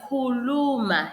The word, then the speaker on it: khuluma: the last one so the word khuluma has three sounds khuluma khuluma alright ake zame lisala